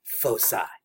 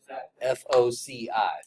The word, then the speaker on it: foci: Together, they are foci. F-O-C-I, foci.